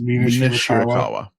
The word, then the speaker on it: Mina Shirakawa: Mina Shirakawa.